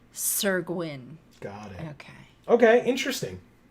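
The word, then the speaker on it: Syr Gwyn: I used how do you pronounce it? Sir Gwyn. Sir Gwyn.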